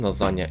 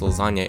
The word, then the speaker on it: lasagna: There is no other way in the Italian language to express this sound, and -gn- can only correspond to one sound.